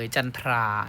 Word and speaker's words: จันทรา: จันทรา จันทรา นะ ครับ คำ นี้ เนาะ ทรา นะ ครับ ออก เสียง เป็น คำ ควบ กรรม แท้ เลย จันทรา นะ ครับ ไม่ ออก จันทรานะ ลูก